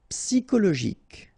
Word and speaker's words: psychologique: Psychologique, okay, remember it's an exception here because you've got this C-H-O. Normally we should pronounce it sho, okay, but in that case we pronounce it ko.